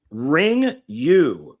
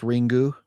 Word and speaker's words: Ringu: Ring You, the original Ring. Now, isn't it pronounced Ringu? Ringu, Ring You, F you. Well, yeah, because it's Japanese.